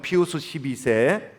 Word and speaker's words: 비오 12세: 1840년 12월 8일, 그 당시에 교황이었던 피우스 12세, 그러니까 비오 12세라고 발음하기도 하는데, 칙령을 내립니다.